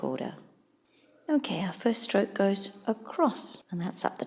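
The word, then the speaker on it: 五: the proper stroke order okay our first stroke goes across and that's up the top next we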